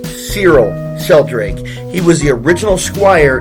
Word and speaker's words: Cyril Sheldrake: It's Squire Civil Sheldrake first appeared in Batman number 62 in 1950. This is also his first appearance alongside of the superhero he sidekicks for. I mispronounced his name. Cyril Sheldrake.